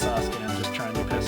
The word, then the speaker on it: Sasuke: I know his name is pronounced Sasuke, I'm just trying to piss Naruto fans off.